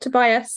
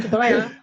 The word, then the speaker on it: Tobiah: Teachers call him Tobias, and he's like, "No, I'm not Tobias. I'm Tobiah."